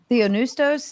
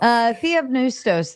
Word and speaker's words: Theopneustos: Theonustos is actually, I don't think the P is pronounced because it's PN, so then it would just be the N.